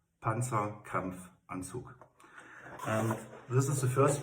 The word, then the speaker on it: Panzerkampfanzug: It's short for Panzerkampfanzug. Panzerkampfanzug.